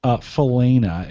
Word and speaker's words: Falana: Falana is how that is correctly pronounced out there.